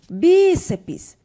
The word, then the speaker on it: bíceps: r e leva acento bíceps aqui a sílaba tônica ob a palavra bíceps tem apenas duas sílabas por isso que ela é uma paroxítona terminada em ps ok então ela é acentuada